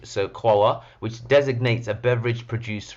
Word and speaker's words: قهوة: So the term coffee itself is derived from the Arabic word qawa, or Qahwah, so qawa, which designates a beverage produced from roasted beans.